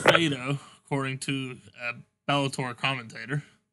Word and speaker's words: Fedor: It's pronounced Fado, according to a Bellator commentator. Fado. I was right. The R is silent.